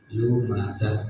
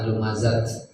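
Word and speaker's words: لمزة: Lumazah. Nah, untuk tak marbutoh, jadi tak yang bulat itu istilahnya disebut tak Tak marbutoh. marbutoh. Kalau wakof maka dibacanya bunyi H besar ya, H. Lumazah. Bukan lumazat ya.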